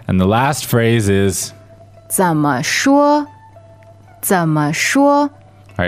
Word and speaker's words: 怎么说: All right, and the last phrase is 怎么说? 怎么说? All right, remember 怎么, that 怎 goes low, and 说 is first tone, flat and high.